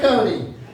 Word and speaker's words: Cote: My last name is Cody, spelled c o t e. Very easy to spell and very difficult to pronounce, as it were.